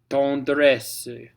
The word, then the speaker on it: tendresse: Tendresse, tendresse, tendresse for the next set. That extra S at the end, don't pronounce it.